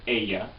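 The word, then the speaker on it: ella: a which is she it's spelled with a double L and you pronounce it Aya um and those actually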